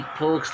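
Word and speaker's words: folks: It's nice to talk with फोक्स like you. अब जो ऐसे लोगों के साथ बात करने में अच्छा लगता है। फोक मतलब पीपल, लोग, यल साइलेंट है, फोक्स बहुवचन है फोक्स।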